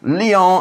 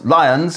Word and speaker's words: Lyon: Churchill also wrote, criticising a friend for pronouncing French place names à la française. Marseille, Lyon and Calais instead of Marseilles, Lyons and Calais.